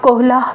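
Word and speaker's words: Köhler: वेहाइमर भी आप कहीं जगह पढ़ेंगे, फिर वुल्फगांग क्योलर, इनका प्रोनाउंसिएशन आप कोहला भी पढ़ेंगे, और उसके बाद हमारे पास आ जाते हैं कुर्ट कोफका।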